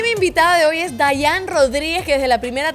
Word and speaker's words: Diane: Se escribe Diane, ajá, pero se pronuncia regularmente Dayan, aunque no tengo problemas claro, si dicen Diane o Dayan.